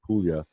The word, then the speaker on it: Puglia: PU GLI yes announced Puglia as in million that book Lea okay